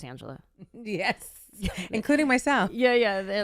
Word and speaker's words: Anjelah: spelled so weird, so they try to make it real ethnic, and I go, oh no, it's just Anjelah.